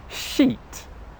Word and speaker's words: sheet: But the main difference between these two sounds, which is the important point that you need to learn, is that one sound /i:/, is a long English vowel sound.